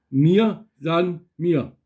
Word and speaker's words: Mir san mir: Die Betonung ist ein bisschen komisch. Wir kriegen die Betonung raus aus dem. Nur einmal. Mir san mir. Nicht san. San. Mir san mir.